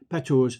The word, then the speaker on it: Patau's: I'll spell that for you. It's P-A-T-A-U, Patau's, so it's apostrophe S, syndrome.